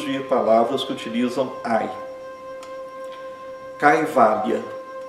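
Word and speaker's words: कैवल्य: Exemplos de palavras que utilizam ai: caivalha, caivalha. Caivalha é libertação, isolamento no sentido espiritual, independência. Também é uma tradução de caivalha. Cai. O ai é pronunciado exatamente como no português, ai.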